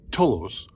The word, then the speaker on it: tholos: This is called a tholos, or in Portuguese we pronounce it tolos, because it's not like